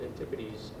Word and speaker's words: Antipodes: of years ago called Antipodes, which everybody but me pronounces antipodes, which is actually the correct English pronunciation.